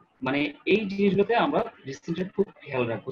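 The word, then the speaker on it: dysentery: ডিসেন্ট্রি, আপনার কয়জন ডিসেন্ট্রি বানানটা একটু দেখে নিন, ডিসেন্ট্রি বানানটা কিরকম। ডিসেন্টেরি উচ্চারণটা ডিসেন্ট্রি।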